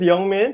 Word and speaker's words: YoungMin: is yeah young man just like how it's pronounced young man young man but with an eye that's how I always